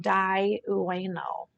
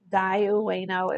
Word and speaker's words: Dai Ueno: This is Dai Ueno. Dai Ueno, it's spelled DAI_UENO.